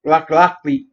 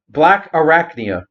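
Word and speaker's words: Blackarachnia: last up is blocker black lockly black or lachnia i was intentionally trying to say it wrong black arachnia i can say it right the only two protocols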